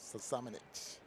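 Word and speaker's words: Šamanić: I'm going to give mine to Luka, and I'm not going to pronounce his name right. Samanic.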